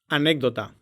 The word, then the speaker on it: anécdota: То есть, если вы видите букву П, Т, К в конце слога, то это не значит, что там действительно звучит П, Т, К. Там всегда звонкая фонема, которая по общему правилу произносится как аппроксимант.